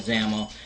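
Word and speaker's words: XAML: the for zaml um I know X XL and it's called zaml well you're going to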